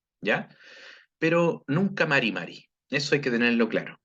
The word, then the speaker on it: Mari Mari: Ojo, por favor, con la pronunciación. Acá nunca vamos a decir Mari Mari, ni Marri Marri.